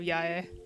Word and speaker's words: Yae: Still thinking about the people who say yay instead of yae.